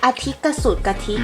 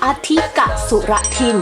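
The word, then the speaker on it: อธิกสุรทิน: This year is A-Tik-ka-Su-ka-Tid <<( I try to pronounce very difficult Thai word which mean leap year) No! let me check. A-Tik-ka-Su-ra-Tin << this is the correct way to pronounce Thai word for leap year.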